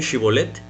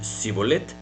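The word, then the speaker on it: shibboleth: les decían a ver Entonces dime chivolette y les decían sibolette Pues porque no O sea no no sabían pronunciarlo bien no así como tú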